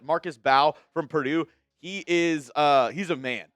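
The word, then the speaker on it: Mbow: Marcus, I believe it's Bow. I think the M is silent. Marcus Bow from Purdue.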